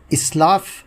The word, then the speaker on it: اسلاف: رہیں گے۔ دوستو، آج کا لفظ ہے اسلاف۔ اسلاف بولا جاتا ہے جو غلط ہے۔ اس کے